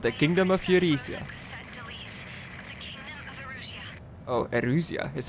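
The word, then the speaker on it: Erusea: cut princess of the kingdom of Eurasia Oh Arusha is how you pronounce it yes Darry play I absolutely love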